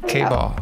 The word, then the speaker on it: K-Ball: K-Ball rhymes with ball.